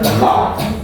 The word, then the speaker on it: laugh: Ditulisnya lauk. Lihat. Dibacanya laugh.